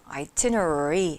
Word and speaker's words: itinerary: itinerary 하고 art 사운드가 계속 붙어 있기 때문에 혀끝이 천장에 닿으면 안 되거든요. itinerary 이렇게요.